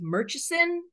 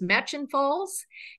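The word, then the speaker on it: Murchison Falls: Falls um it looks like it should be pronounced merchison uh but we we I've learned the it's the pronunciation is match and falls and again we are going to visit this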